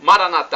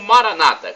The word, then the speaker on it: Maranatha: aí né os católicos Maranata a tônica na última sílaba ou Maranata com a tônica na penúltima sílaba como dizem nossos irmãos separados os evangélicos ou protestantes não importa somos todos